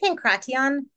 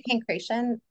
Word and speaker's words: pankration: pankration P pankration yeah so I I say pankration uh a lot of people say panre um they do that like ti so it's um literally it translates like pan like pantheism right all and then the crot part like it's the root like democracy like that CR cross part like power it's like all all violence I guess all all Force so yeah it's it's